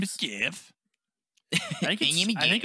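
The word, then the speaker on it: Gef: My name is Jeff. I think it's yeah, they spell it with a G, but the pronunciation is just normal Jeff.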